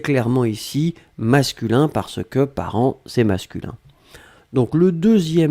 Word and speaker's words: parents: tout cas c'est clairement ici masculin parce que parents et masculin donc le deuxième mot c'était parents parents on l'écrit au pluriel ici part1 nts